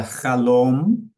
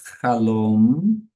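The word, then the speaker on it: חלום: A palavra halom e a palavra halon. É, a pronúncia é isso aqui, ó. Halom significa sonho. E essa palavra aqui, a palavra halon, significa janela, certo? Então, Shalom. Fechei minha boca. Shalom. Com a boca aberta falando o N.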